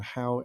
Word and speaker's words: Hau: as in Steve and how as in how do you do pronounced but spelled H AU.